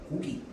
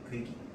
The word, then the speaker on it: 고기: 표준 발음이 아닙니다. 대표적으로 뭐가 있냐면 아기, 애기, 어미, 애미, 그 다음에 고기, 괴기.